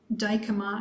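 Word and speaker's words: Dijkema: of us so brian dykema's email is b daikoma i guess we better spell that b d i j k e m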